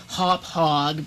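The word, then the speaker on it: Hauppauge: That is actually a Hoppage WinTV PVR150, and I'm sure somebody is going to get on my case about not pronouncing it Hop Hog, but frankly, I think that Hop Hog sounds stupid, so I'm going to pronounce it my way.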